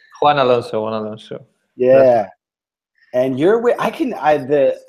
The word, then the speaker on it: Juan Alonso: Did I pronounce that right? Juan Alonso? Juan Alonso.